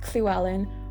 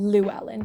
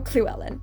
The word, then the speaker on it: Llewellyn: clue Allen I would much prefer people to say clue Allen rather than Luellen because Llewellyn like like you're not even trying if you're saying Llewellyn like oh my God people who say Luellen oh my God they drive me up the wall like oh my God so just just either Sue Ellen or clue Ellen that's her name so yeah so that's